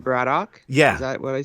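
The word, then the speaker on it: Braddock: Brian and Betsy bradoock no the answer is bradoock yeah because if you say with an English accent well how do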